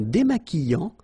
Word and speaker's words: démaquillant: So we've got this QU, but then U is not pronounced. So you get the sound qui. Okay, and then remember, double L after E will give you the sound y. Démaquillant. Final T not pronounced.